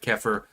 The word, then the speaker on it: kefir: There are kefir, I believe is goat related. By the way, fucking delicious. So there are ways for you to get your dairy. I had kefir, or kefir, it's sometimes pronounced, just a couple days ago.